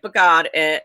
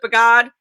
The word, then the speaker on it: Bogod: Is that how you pronounce it, Bogod? Yes, Melanie, Bogod is right.